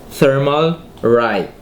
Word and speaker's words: Thermalright: Thermalright.